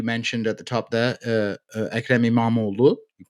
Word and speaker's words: Ekrem İmamoğlu: There is a mayor of Istanbul, as you mentioned at the top there, Ekrem İmamoğlu. You pronounced it very well, if you ask me.